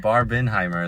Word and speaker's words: Barbenheimer: said that's a barbheimer barbin Heimer is how it's pronounced it's Jewish okay fair